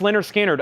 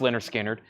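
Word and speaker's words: Lynyrd Skynyrd: T auctions evidently uh Leonard skinnard pronounce Leonard skinnard a really nice copy on the first MCA label $ 34.99 Eagles or excuse me Leonard skinnard pronounced Leonard skinnard that should be an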